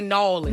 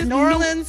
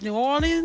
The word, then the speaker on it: New Orleans: Yeah, as long as you don't say Nolans. Nolans. Don't do that. That's like a touristy thing. We'd be like, please don't do that. So there's New Orleans and then there's New Orleans?